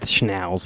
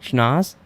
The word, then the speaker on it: Schnauz: It's not Schnauz. It's because then the next. You were right the first time. Schnauz.